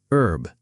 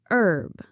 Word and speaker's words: herb: Herb. Herb. In American English, the H is usually silent. Herb.